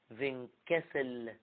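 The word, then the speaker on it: Windkessel: سموا الظاهرة دي في الكتاب عندكم فينكاسل effect. على فكرة هي بتتنطق كده فين كاسل، هي بالرغم انها بتتكتب دبليو بتتنطق في. وطبعا دي كلمة ألماني، للناس اللي خدوا ألماني منكم عارفين الكلام ده في اللغة.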